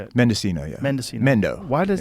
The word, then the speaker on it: Mendocino: Mendocino, yeah.